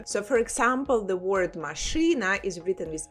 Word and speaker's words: машина: So for example, the word машина is written with e but pronounced with y, машина.